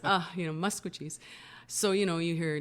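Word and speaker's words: Maskwacis: letters you can mispronounce it like like people mispronounce musco Chiefs all the time they call it masquatchies yeah and it just grates on my ears as you know because it's not it's uh you know muscogee's so you know you hear like tensei Nito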